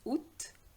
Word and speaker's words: août: Janvier, février, mars, avril, mai, juin, juillet, août, and be careful with the pronunciation, is août, septembre, octobre, novembre, décembre.